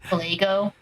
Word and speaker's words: Caligo: Also, I feel like I should mention you are adding his extra syllables to his name. It's just Caligo.